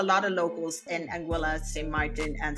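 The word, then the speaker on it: Saint Martin: it up there is no such place as St Martine and I don't know who came up with that name it is not St Martin it is just simply St Martin and if you want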